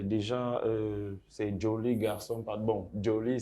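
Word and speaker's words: Joly: Bon, Joli, c'est ma prononciation à moi, mais sinon, c'est Joli, J-O-L-Y.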